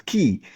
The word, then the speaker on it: Guy: When somebody reads it, GUI, would assume it's Guy, but it is pronounced as Key.